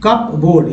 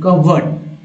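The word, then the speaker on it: cupboard: आ ही नहीं सकता, जबकि दोस्तों इसको ऐसे नहीं बोलना है कप बोर्ड, इसे बोलना है क बोर्ड क बोर्ड बोर्ड नहीं क वर्ड कवर्ड कवर्ड, तो धीरे धीरे हम लोग सीख जाएंगे कवर्ड कवर्ड, यही उच्चारण इस वर्ड का है कवर्ड, वर्ड तो आप जानते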